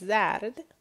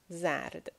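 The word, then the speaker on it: زرد: So the word is zard. It means yellow, the color. This is ze, this is re, and this is dal. Zard.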